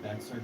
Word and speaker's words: Bexar: This is kind of like that one video I covered recently where it's like I said Bexar County but it's Bear County because the X is silent I won't be saying You won't be saying the what?